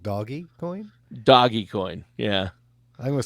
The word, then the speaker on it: Dogecoin: I mean, I say Dogecoin too, but when you spell it, isn't it dog e coin, like doggy coin?